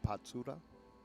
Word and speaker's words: Patsura: a deciding shootout so his name is pronounced patura yeah yeah well that's